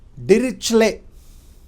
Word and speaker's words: Dirichlet: Much research work has been done on this function by a famous mathematician called Dirichlet. Of course, T is silent.